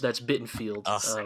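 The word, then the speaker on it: Bittenfeld: Yeah, no, sorry, that's Bittenfield. Rhymes with Garfield.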